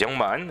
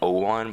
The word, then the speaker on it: Youngman: I know I've been saying Owan, but I kind of realized that it's Youngman because 0 in Korean is pronounced Young in one of the 2 ways that you can do it.